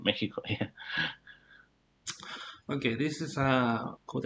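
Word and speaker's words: México: explain this um so this is probably the only word in spanish where you have an x is pronounced like a j okay you talk about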